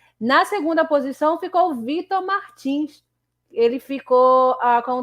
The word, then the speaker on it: Martins: agora o Vitor Martinho ele é um piloto francês mas se pronuncia Martins mesmo tem essa dúvida